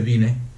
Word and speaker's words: Vine: He usado el diccionario Vine, se escribe Vine, se pronuncia Vine.